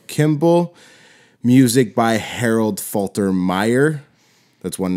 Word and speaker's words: Faltermeyer: Music by Harold Faltermeyer. That's one name total, or two names in one. I said it like Falter, like syllable. I said it in the syllables.